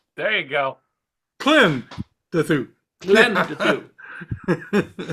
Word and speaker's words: Klendathu: KLENdathu. There you go. KLENdathu. KLENdathu. Well, no, I've always been doing the Klen part. It's the dath. I've always said KLENdathu.